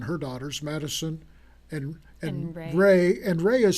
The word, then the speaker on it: Wren: and enunciation for see i would say wren but it looks like red yeah but it's ray so it's hey i'll